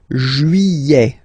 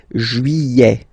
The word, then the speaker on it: juillet: Juillet. Juillet. Don't pronounce this final T, E-T here at the end. E. Juillet.